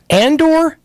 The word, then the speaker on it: Andor: throwing off the planet you've just been saying it wrong this whole time yeah so it's and or is Andor from indoor